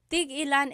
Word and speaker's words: tig-ilan: So tig-ilan, when there's a hyphen in it, you have to have that glottal stop. Tig-ilan. That means how many of each. When there's no hyphen, tigilan, tigilan.